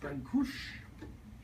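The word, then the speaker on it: Brâncuși: She said, that's not how you say his last name, it's Brancush. Brancush. There's No I? Okay. There's an I at the end of his name, but in Romanian they don't really pronounce the I. It's like a soft.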